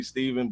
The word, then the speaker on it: Stephen: Everybody calls me Stephen now because it's spelled the same way. But it's actually really Steven, but just depending on that's a good name.